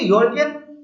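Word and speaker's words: European: इस्तेमाल किया गया है, इसका प्रोनाउंसिएशन देखिए तो ये कॉन्सोनेंट लगता है, क्योंकि देखिए उर्दू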